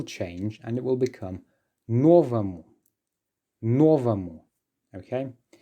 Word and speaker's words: новому: Just pay attention to the pronunciation. Even though there is a letter or there in the ending or mu, I am pronouncing it as новому. Yes, so it's an R because it's reduced, because it's the first or новому that is stressed.